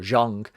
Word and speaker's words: Zhang: is going to be fighting Jang again or Jang as it's correctly pronounced in October I